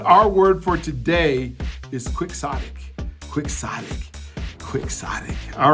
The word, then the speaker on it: quixotic: soic all right so so it's spelled I want to make sure you get it right so quick Sonic is spelled q u i x o TI I that's qix o TI I quick Sonic all right it